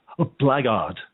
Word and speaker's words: Blackheart: In Dublin, Blackheart is pronounced blackguard.